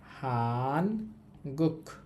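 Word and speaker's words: 한국: তো সর্বশেষ যে দেশের নামটা ছিল সেটা হচ্ছে হান গুক। হানগুক। হানগুক অর্থ হচ্ছে কোরিয়া।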